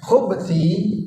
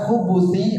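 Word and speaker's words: الخبث: ada dua cara baca Tapi dianjurkan agar bacanya bnya disukun sehingga bacanya Allah KH Minal khub wal KH Kenapa dianjurkan bnya disukun khubti itu artinya keburukan sedangkan khubuti artinya setan Lanang setan lelaki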